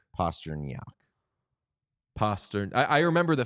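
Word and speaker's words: Pastrňák: I think it's David Postran, right? Oh, uh, it's, uh, Postnak. Postnak.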